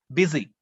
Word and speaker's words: busy: Or you have the letter U, but it is pronounced E, busy.